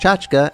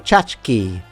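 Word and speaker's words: tchotchke: By the way, you may have noticed I pronounced chachka as chachka. before you start leaving comments saying I said it wrong. That pronunciation reflects a Yiddish influence versus saying chachki, which is the Americanized variant, which just never sounds right to me.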